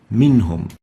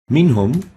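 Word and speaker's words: منهم: Minhum. Minhum, we have a Nun Sakinah with Tanween, followed by a Ha with a Dhamma.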